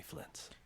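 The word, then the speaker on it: Flins: Flintz. So there's like a T sound in there.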